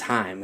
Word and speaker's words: Haim: It's Haim. It rhymes with time.